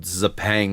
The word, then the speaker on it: Xpeng: So what this actually is this was nicknamed, and it's I think it's called Xpeng is how the company is actually pronounced.